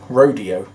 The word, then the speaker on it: Rodeo: Now you might think I'm saying this wrong, rodeo, but he pronounced it Rodeo, so that's how I'm going to say it.